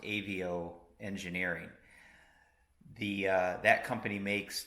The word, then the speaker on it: Aveo: cool long-awaited delivery from I believe it's pronounced a vo engineering the that company